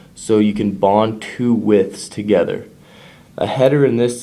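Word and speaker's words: wythe: The second vocabulary word, width.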